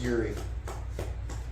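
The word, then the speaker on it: Jiří: they got got back it's pronounced Yuri with a J yeah son of Africa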